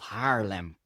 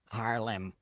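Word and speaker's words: Haarlem: And that city is called Harlem. Harlem. So, not Harlem, but Harlem, the real one.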